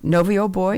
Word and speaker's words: Novio Boy: production of award-winning Gary stos is it noio novio boy am I pronouncing that correctly that's right noio boy tell